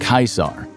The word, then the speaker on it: Caesar: In the original Latin, the name would have been pronounced Caesar, and that's where we get the German and Russian words for emperor, Kaiser, and Tsar.